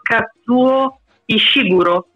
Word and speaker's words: Kazuo Ishiguro: Allora, la pronuncia l'ho cercata online, si chiama Kazuo Ishiguro. Io ho sempre detto Ishiguro, per cui per chi lo conosce e non capisce dalla pronuncia chi sia, è il classico Kazuo Ishiguro, come diciamo all'italiana.